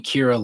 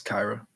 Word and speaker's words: Kyra: By the way, with Kyra Lewis, his first name is pronounced with I. Thank you, Kyra Lewis. The thing is, I objectively know that, and my brain just can't make the switch in my head. I keep thinking Kira like what's it called?